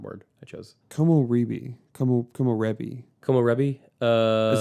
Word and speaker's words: komorebi: Komorebi. Is that how you pronounce it?